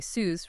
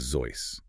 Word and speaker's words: Seuss: Most of us, you know, growing up in the States, we say Suz rhymes with loose, right?